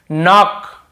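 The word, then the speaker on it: knock: आपको पता ही होगा एन के पहले की जैसे देखिए नाक नाक खटखटाना नाक नाक ऐसा तो नाक यहां पर भी कैसे हैंड होता है क्लॉक नहीं पढ़ेंगे केवल नाक पढ़ेंगे वैसे नीड ये हो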